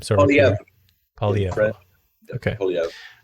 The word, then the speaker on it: Poilievre: On that note, Pierre Poilievre, I don't exactly know how to pronounce his last name. Sorry, Pierre. Poilievre.